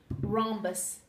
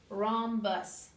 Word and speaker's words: rhombus: life but it's kind of fun to say rhombus okay and here's how it is spelled r h o m bu u s Romus okay okay now let me tell you what